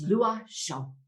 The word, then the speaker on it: Loichot: i was freaking out it's a french name and i'm oh my god how do i pronounce this name she's like i got you it's lua and i was like